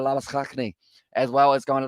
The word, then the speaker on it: Labuschagne: As well, I feel like I'm getting used to saying it the South African way with Labuschagne, as well as kind of the pronunciation along those lines.